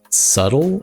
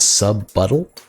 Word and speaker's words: subtle: Did you think the word subtle is pronounced sub-buttle?